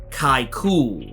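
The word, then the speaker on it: Kai'ckul: where the sandman was worshipped as the entity kai cool and yes i am pronouncing it correctly that is how it's pronounced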